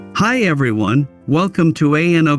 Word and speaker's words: ANO: Welcome to ANO Camera, pronounced Ano.